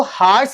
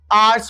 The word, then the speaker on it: hours: अच्छा, ये जो वर्ड है HOURS, इसको हार्स नहीं पढ़ना है, इसका प्रोनाउंसिएशन जो है वो आर है। अगर 1 घंटे की बात हो तो 1 hour या फिर एन आवर, और जब 1 घंटे से ज्यादा हो जाए तो आर्स पढ़ना है, राइट, आर्स।